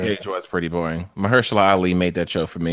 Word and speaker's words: Mahershala Ali: Did you say Hershey Ali? What'd you say? I said Mahershala Ali. Is that how you say his name? Yes.